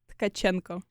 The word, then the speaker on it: Tcachenco: of 10 okay how about you try to pronounce your last name okay so it's kachenko okay kachenko yeah that was better that was